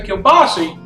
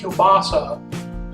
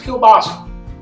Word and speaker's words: Kielbasa: Now I say Kielbasa, that's the pronunciation. I got friends up PA told me how to properly say. Apparently Kielbasa is wrong, so it's Kielbasa.